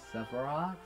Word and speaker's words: Sephiroth: Sephiroth.